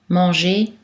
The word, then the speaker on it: manger: Mais attention, la lettre R est silencieuse dans la terminaison infinitive des verbes en ER, manger, danser, inviter, dans les